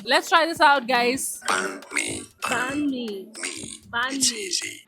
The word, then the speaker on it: banh mi: Banh mi.